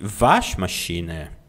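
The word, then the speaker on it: Waschmaschine: Letra W tem som de V. W som de V. Vion de Vash machiner.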